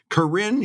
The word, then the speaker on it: Corinne: How do you like that little French spin I put on that? Corinne. I like that. Boy, am I in Paris? Because, Brad, that was perfect pronunciation. Speaking of putting the accent on the second syllable, we've gone from Googar to Corinne.